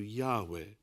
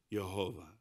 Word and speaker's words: Yahweh: that the original pronunciation was closer to Yahweh rather than Jehovah not just some Scholars pretty much every single one others feel that it may have been yahovah just how important is